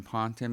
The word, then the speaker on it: Ponton: My name is Ponton.